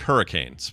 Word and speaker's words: Hurricane: It's spelled like hurricanes, straight up hurricane, but it's pronounced hurricane. Hurricane.